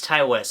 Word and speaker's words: Ti West: like T and I, not just T, it's Ty. I think it's Ty West, so I'm going to go ahead and call him Ty West, but I am sorry if I did not pronounce that right.